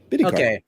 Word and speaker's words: Bidikar: Yeah, Bidikar. Okay. Mm-hmm. Just like it looks. Okay. Well, sometimes it's not. Sometimes it's not, but in this case, it is.